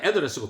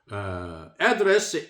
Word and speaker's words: address: and deliver an address, 명사는 address고 동사는 address입니다. 발음이 유의해야 합니다. 명사는 액센트가 앞에 있고 동사로 쓰일 때는 액센트가 둘째 이음절로 이동합니다. Address at the Cairo University outlining Seoul's initiatives for the Middle East.